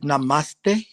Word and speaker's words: namaste: Is it namaste? The closest. Namaste, yeah. How do you pronounce it? Namaste. We say namaste here.